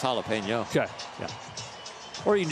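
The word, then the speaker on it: jalapeño: to ask my question is a jalapena same thing as a jalapeno oh that too did I say it wrong well maybe jalapeno jalapeno yeah yeah I would say it's jalapeno okay yeah or you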